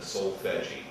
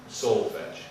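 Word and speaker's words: solfège: You'll hear some people mispronounce the solfeggi. Solfege.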